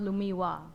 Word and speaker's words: Lumilda: It's spelled Lumilda, but it's Oh. pronounced Lumiwa.